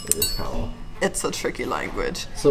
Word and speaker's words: Cawl: Yeah, we didn't say it properly. It is Cawl. It is Cawl.